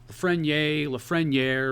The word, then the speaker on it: Lafreniere: Or Lafreniere, got a friend in need. Lafreniere, Frigidaire.